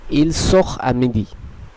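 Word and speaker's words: il sort à midi: আপনারা নিশ্চয়ই দেখতে পেলেন যদিও আটা একটি ভাওয়েল, কিন্তু তেটা এর সঙ্গে সংযুক্ত হলো না, বরং তেটা সাইলেন্টই থেকে গেল। তার প্রথম কারণ হচ্ছে যেটি আমরা নিয়মেই আলোচনা করলাম, সেটি হলো এই তের আগে একটি এখ আছে, এর ফলে ইল সোখ আমিদি উচ্চারণটি হবে।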